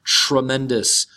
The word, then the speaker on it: tremendous: from that nest here we have a TR word so it is pronounced like a CHR tremendous so the word is